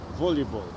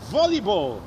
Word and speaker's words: volleyball: Na pewno słyszałeś jeden z drugim różne dziwne wymowy słowa volleyball. Proponuję. Wolej to i wymawiaj volleyball.